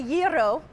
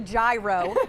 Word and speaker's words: gyro: my favorite foods, and until today I was pronouncing it wrong. We are going to make the gyro, otherwise known as the gyro in the world of very poorly spoken English here.